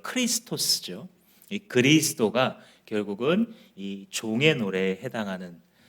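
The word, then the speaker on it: Χριστός: 뭘까요 없습니다 언어의 차이일뿐입니다 그래서 우리가 부르는 그리스도 원래 발음을 크리스토스죠 그리스도가 결국은이 종의 노래에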